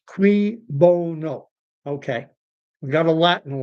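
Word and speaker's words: cui bono: Who benefits is qui, spelled Q-C-U-I, bono, pronounced qui bono.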